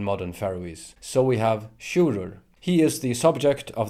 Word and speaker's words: Sjurður: The G always falls away to modern Faroese, and the I turns into a J and doesn't support a syllable anymore. The first syllable is now carried by the U is lengthened. Long U in Old Norse is U in modern Faroese.